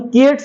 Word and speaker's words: Keats: लिखना है वहां पर जॉन किट्स है कि नहीं वहा पर बोलना नहीं है जॉन कुट बोल देगा तो गलती बोल के